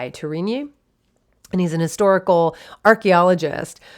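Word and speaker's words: Tourigny: to say his name torini that's how i would think to say it t-o-u-r-i-g-n-y tourini and he's a historical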